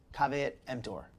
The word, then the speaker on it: caveat emptor: Caveat emptor. That's right. That's how you say it in Latin.